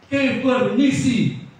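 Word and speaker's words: κυβέρνησις: Bacanya kevernisi.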